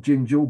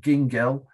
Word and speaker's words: Gingell: The next slide is, in a way, this is kind of a follower of David Bates, Albert Gingell, not Gingell, but Gingell, hard G.